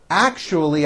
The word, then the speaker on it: actually: with my co-workers actually it's not actually with a ch it's actually with an sh sound actually actually i left you a